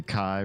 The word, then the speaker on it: KI: to find them the kai rhymes with sky is an in-game item